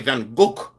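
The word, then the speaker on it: Van Gogh: In Holland, they pronounce it different. Well, I'm not in Holland. I'm in frigin. Really? You say Van Go. People say Vanuk.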